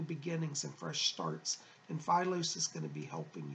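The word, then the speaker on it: Phylos: The name is Philos. P-H-Y-L-O-S is how it's spelled.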